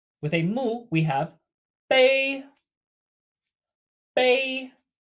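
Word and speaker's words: 杯: And last for the set, with a mu, we have bei. Bei. Pronounced very similarly to prepare, however, with a level tone.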